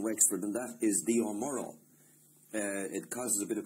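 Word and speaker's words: O'Morchoe: our midst in Wexford, and that is the O'Morrow. It causes a bit of confusion. It's spelt the Omorco, but pronounced the Omoro.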